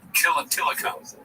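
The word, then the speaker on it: Tilikum: Tillicum.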